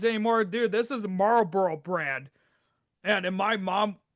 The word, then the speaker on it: Marlboro: So I love the fact that you're calling them Marlboro. You're pronouncing it correctly. Now, I was working at Casey's, people had all this they called them people would call them marbaros.